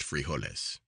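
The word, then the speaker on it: frijoles: The last dish, and one that is never omitted from dinner or supper, is foles, pronounced friolis, consists of beans, brown ones, with a sort of gravy over them.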